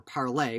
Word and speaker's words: Parler: the social media website called parlor or parlay which i think is the correct pronunciation from what i know about it has also been shut